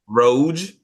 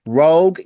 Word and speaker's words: Rogue: Roge, why did you say it like I'm that? tired, okay? It's 12:36 here. Rogue, Gambit, Nightcrawler, and they have four or five new mutants with them.